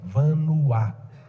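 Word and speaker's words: Vanhoye: e y é e v a n h o y é vanuaa o que é francês albert um pezinho mudo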